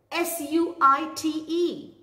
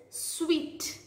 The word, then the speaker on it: suite: The next word which we are going to learn is suite. People call it as suit, but the correct pronunciation is sweet.